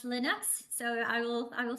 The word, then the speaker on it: Linux: you for the correction I've been saying lonx but I'm hearing how it's Linux so I will I